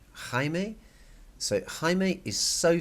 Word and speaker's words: Jaime: like this there's no I it's and it's pronounced Jaime Jaime so hi mate is so funny but too